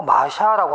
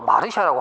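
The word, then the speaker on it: Marcia: 뭐 마샤라고 하기도 하고 또 마르샤라고 하기도 하는데요. 뭐 외국인 이름이니까 뭐 마르샤 또는 마샤라고 하는 것도 우리가 뭐 방법이 없어요. 그 마르샤도 되고요. 그다음 마샤라고 발음을 해도 같은 인물로 여러분들이 알아두시기 바랍니다.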